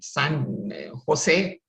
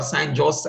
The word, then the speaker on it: San Jose: And then he joined IBM in San Jose or San Jose, as you see pronounced in India.